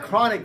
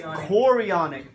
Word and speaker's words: chorionic: It's not chronic. Let's make sure you guys say it correctly. It's chorionic.